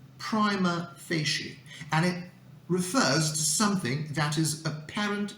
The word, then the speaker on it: prima facie: let's find out so the correct pronunciation of this phrase is prima facie and it refers to